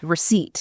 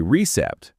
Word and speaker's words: receipt: That P is completely silent. You have to say receipt. Receipt. If you say recept, people will probably understand you.